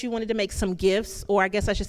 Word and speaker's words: GIF: guess I should say GIFs, even though I don't know, if it's pronounced GIF, why didn't you just put a J in the front instead of a G? But the actual pronunciation is GIF.